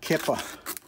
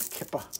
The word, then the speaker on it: kippah: of them and that kipper is something that georgie girl loves to knock down from the shelf there might be a better way of pronouncing it kippah i sound like kicker you know but how